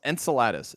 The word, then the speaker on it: Enceladus: moon no no no no not enchiladas enceladus the ocean moon of saturn have you heard about